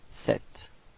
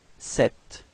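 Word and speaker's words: cet: have actually two forms the first one is Sir and the second one is set okay so repeat sir and then set all right feminine form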